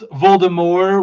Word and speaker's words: Voldemort: And like apparently it's Voldemort without the T, even though the T is not pronounced.